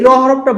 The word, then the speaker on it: ر: কখনো পাতলা হতে পারে এটাও উচ্চারণের ক্ষেত্রে আপনার জিহবার আগাটা সামনের উপরের দাঁতের মাড়িতে লাগবে। অনেকে বলে জিবার আকার একটু উল্টা দিকটা লাগে। হ্যা বাট আপনি র বললেই হ। ঠিক আছে? রধনি। তহলে আমরা যখন রকটা বলছি তখন সে মোটা ধনি দিচ্ছে। এটাকে বলব না। এরকম ঠোট গোল করব না।